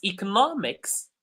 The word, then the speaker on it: economics: But in when it's economics, it's the third stress or the third syllable that becomes stress.